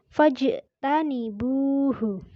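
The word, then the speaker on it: فَاجْتَنِبُوهُ: Cara membacanya dengan memantul yaitu fajtanibuhu.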